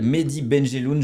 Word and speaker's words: Mehdi Benjelloun: Mais en gros donc tu t'appelles Medy Benelun, je le prononce bien.